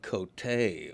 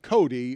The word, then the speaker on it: Cote: Because it's always pronounced that way Cote, there. yeah. Nobody pronounces it Cody.